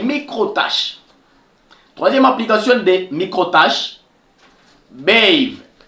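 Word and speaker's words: Beehive: Troisième application de micro-tâches, Bave. Bave, écrivez seulement comme moi je prononce.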